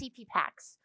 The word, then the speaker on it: CPPAX: Citizens for Participation in Political Action, which we called CPPAX and pronounced CPPAX, which like means nothing.